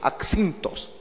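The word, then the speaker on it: ἄψινθος: Así se escribe y así se pronuncia, axintos.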